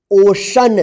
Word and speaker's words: ocean: देखिए यहां पे सोशल, सोशल श उच्चारण हो रहा है ना। देखिए यहां पे OCEAN, इसको क्या पढ़ेंगे? ओशन।